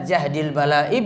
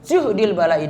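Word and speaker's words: جهد البلاء: Bisa jahdil bala'i, bisa juhdil bala'i dengan dhammah. Yang pertama tadi dengan fathah jahdil, yang kedua dengan dhammah juhdil.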